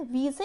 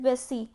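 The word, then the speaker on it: Vesey: एक लेडी थी एलिजाबेथ वीजे और एलिजाबेथ वेसी, कुछ भी इसका प्रोनाउंसिएशन हो सकता है, कहीं कहीं पे एलिजाबेथ वेसी बोलते हैं और कहीं पे एलिजाबेथ वीजे बोलते हैं।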